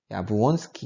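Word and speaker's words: Jabłoński: 이분은 이제 폴란드 분이어서 발음이 조금 야부온스키 이런 식으로 불러야 맞다고 알고 있습니다.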